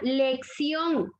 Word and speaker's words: lección: La palabra lección. Vean cómo finaliza en N y lleva la fuerza de voz en la última sílaba, entonces obligatoriamente la tengo que tildar porque la regla me indica, ¿verdad?